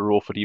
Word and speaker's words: ROER4D: research administrator for the RO for d project that's how I pronounced by the way Ro Ford standing for the research